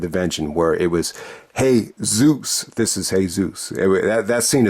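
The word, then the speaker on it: Jesús: So this is actually, hey, Zeus. You actually spell it like Jesus, except the U actually has an accent.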